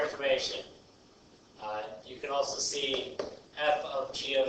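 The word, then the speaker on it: f∘g: I call it fog, pog, and goth. Not really, that's not how you say it, but fog here, f of g. This is how you pronounce it as f of g.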